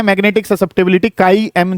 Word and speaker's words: chi: काई जो है वो स्पेलिंग ये है CHI। रिजल्ट जो है वो क्या है, छी, ठीक है। ये है तुम्हारा रिजल्ट आज की तारीख में, ठीक है। हाँ, वैसे काई कहा जाता है।